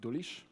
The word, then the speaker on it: Dulisz: It's also spelled, pronounced Dulisz, which is very hard.